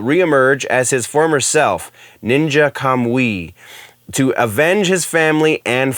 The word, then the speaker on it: Ninja Kamui: And then the one that kind of has me a bit more excited is Ninja Kamui, I believe is how that is pronounced, follows a Joe Heigen, who is the